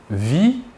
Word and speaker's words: vis: Nous ne prononçons ni la S finale ni la T finale. Par contre, il est obligatoire de les écrire.